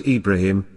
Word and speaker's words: Ibrahim: later there arose a man named abraham or pronounced ibrahim peace be upon him a man of very